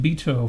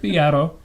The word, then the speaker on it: Beato: spelled beat o it's kind of weird i pronounced it beto for the longest time but no it's rick piatto if you watch enough of his videos you